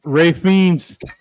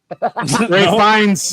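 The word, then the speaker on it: Ralph Fiennes: You got to say his name right or else I'm I won't count it. Ray Fiends. Ray Fines. There you go.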